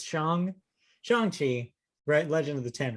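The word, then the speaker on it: Shang-Chi: rings yes i got reprimanded by someone by pronouncing it shang so now i know i learned it's chong chongqi legend of the ten rings comes out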